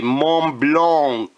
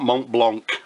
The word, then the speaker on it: Montblanc: Blanc fountain pen or for you people that like to the you know to have the right pronunciation A M blong fountain pen but unfortunately with my accent it generally comes out mon Blanc so what we've got